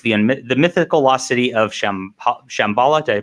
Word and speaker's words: Shambhala: 1866, stricken by an insidious curse, 3 outrageous egos race to unearth the mythical lost city of Shambhala. Did I pronounce that right?